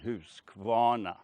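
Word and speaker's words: Husqvarna: hirsquana by the way this is the swedish pronunciation house guana a very high-tech engine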